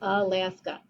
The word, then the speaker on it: Alaska: syllable two open syllables but i don't say a last a i say alaska so open syllable that's